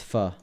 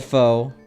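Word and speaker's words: phở: hours straight it's crazy pronounced fuh I used to call it pho I did and then I was shamed into actually correctly pronouncing it why am i walking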